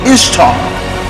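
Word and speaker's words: Ishtar: from the ancient assyrian goddess named ishta pronounced by the assyrians in the same way as we pronounce easter if that's not surprising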